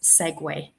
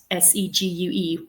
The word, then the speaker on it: segue: Um, just last yearish, I discovered that I had been pronouncing a word wrong my entire life. And that word is segue. Um, s e g u. So, I thought a segue was just that cool thing like a motorized scooter.